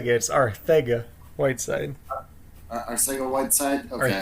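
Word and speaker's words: Arcega-Whiteside: sleeper than a young sleeper is GJ Whiteside their sake awaits it hurt yeah it's not our say get sorry Saiga Whiteside I see a website okay thank you no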